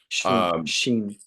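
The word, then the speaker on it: 心: Am I pronouncing that correctly? Sheen. Yeah. Yeah. Sheen?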